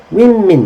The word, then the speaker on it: women: 이거 발음이 이상하죠? woman 말고 이거는 I 발음이 나오네. women. Everyone say women.